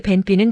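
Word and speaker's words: 便秘: 벤삐는 변비. 한국어 변비랑 발음 거의 동일.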